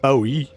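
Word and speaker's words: Bogø: of Falster and the islands of Moon and Bowie. You're really nailing these. That's actually how pronunciations.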